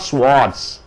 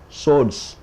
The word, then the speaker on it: swords: In ancient days, people fought with swords, not swords, swords.